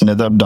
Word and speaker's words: Nadab: my first name dot last name, so it's Nadab.